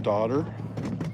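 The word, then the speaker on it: dodder: Now it talks about the daughter. See how it's spelled? It's not like like daughter as in son and daughter. It's D O D E R.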